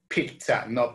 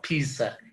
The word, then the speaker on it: pizza: con esa pronunciación ok de pizza es una palabra italiana donde la primera zeta suena como t por eso se dice pizza pizza y picture show big